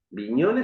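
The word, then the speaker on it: Bignone: se titula no como viñon viñon se escribe con b larga y gn viñon que es el último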